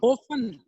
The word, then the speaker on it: often: often often ओफन, ओफन, ओफन, इसमें जो टी है ये साइलेंट है, इसको क्या बोलेंगे?